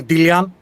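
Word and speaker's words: Delian: Uh we we usually pronounce the company Dillian. It comes from the the island of Dillos.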